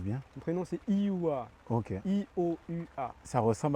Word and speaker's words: Ioua: Tu peux me le dire que je le prononce bien? Mon prénom, c'est Ioua.